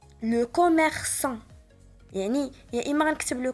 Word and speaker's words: commerçant: هنا عندنا A من مور سي وإلا كانت A من مور سي كنطقها ك. وهنا عندي commerçant نطقتها S.